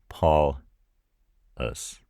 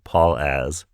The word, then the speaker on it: Paulas: connect Paul and us to be Paul us. And I understand why it doesn't want to spell it correctly. I don't pronounce it Paul as. If I did, I would not be saying it the right way.